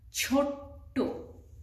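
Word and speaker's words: ছোট্ট: young at that time we add extra t with it so double t and we will have to pronounce it as chotto okay that means very little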